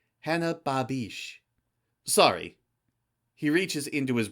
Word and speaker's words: Babek: He stops a few feet away and asks, "Are you Hannah Babek?" He pronounces her last name wrong, ending it with a hard K the way most Americans do. Babish, she corrects quietly, doing her best to hide what remains of her accent.